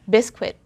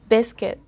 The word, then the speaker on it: biscuit: we say biscuit again bisquit but in english we have to say biscuit biscuit what happened there i omitted the letter u alright i ignored it the letter you hear is a silent u i always carry a